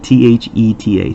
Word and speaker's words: theta: be theta and let's see the way it's pronounced I know we've talked about this in the past is like th ETA theta is used to represent the measure of an